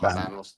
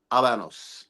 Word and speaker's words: Habanos: this thing about doing Abanos histories and let me correct myself and let me put it out there. I have been asked very nicely to pronounce properly. So you don't pronounce the H.